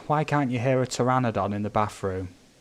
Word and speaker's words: pteranodon: can't you hear a pteranodon in the bathroom because the p is silent honestly man i